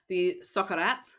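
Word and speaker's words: socarrat: The socarat. Socarat. You got to roll that R.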